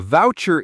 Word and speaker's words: voucher: The stress is on the first syllable. Voucher. The u sound is like in the word out or about. That's right.